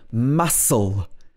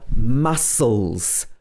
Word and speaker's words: muscle: the c is silent also in muscle after i go to the gym i have sore muscles muscle the next one is fascinating